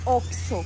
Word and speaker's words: Oxxo: Sono diventati famosi perché In Brasile hanno scritto sulle insegne Che si legge "ó-quis-sô" Perché i brasiliani dicono "ocho" Poi ci hanno messo it lì "si legge o-quis-sô" Continuerò a dire "ocho"